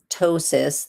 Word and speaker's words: ptosis: So with ptosis, the P is silent.